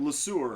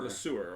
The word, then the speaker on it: Le Sueur: Would you pronounce that? Le Sueur. Le Sueur, okay.